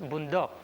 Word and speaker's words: bundok: word boondock simply means it's pronounced bundok but here it's pronounced boondocks it simply means forests